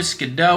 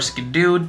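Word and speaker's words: Skiddo: We do have the brand new Skidoo or Skidoo. Honestly, a lot of people have been arguing how to say it. I think Skidoo is more fun to say, so I just go on with that.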